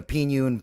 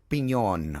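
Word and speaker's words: Piñon: So here's a New Mexico post right here from the Pinon Post, or Pinon, excuse me, for people that got mad.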